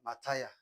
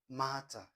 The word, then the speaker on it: matter: Some will pronounce this as mataya. It's not mataya. It is matter.